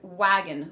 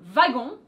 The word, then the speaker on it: wagon: is simply the word wagon wagon wagon that we borrowed from german la a notice the difference in pronunciation because the w is actually pronounced like a v in french babysitter you understood that